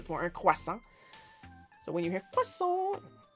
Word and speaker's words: croissant: know that jo that's that's actually how it's pronounced in French. Well, we we push the R a little bit more. Quasa.